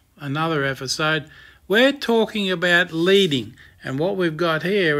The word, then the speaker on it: leading: Leading is spelled L-E-A-D-I-N-G. It's not leading, it's leading, as in bedding.